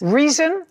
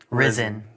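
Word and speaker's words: Rizin: Risen Athletics. Reason. Risen. Risen. Spell it.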